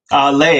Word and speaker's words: Lei: Am I saying it right, Lee? Lei actually, Lei? like the Okay, Hawaiian flower lei.